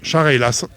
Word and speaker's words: Chareylasses: Comment on prononce précisément le nom? Chareylas.